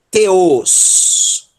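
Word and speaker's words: θεός: Então eu vou pronunciar muitas vezes aqui, vai escapulir, eu vou pronunciar o teta não como T, mas vou pronunciar como T, língua dental, tá? Ok? Então relevem, tá bom? Então vamos lá. Teos.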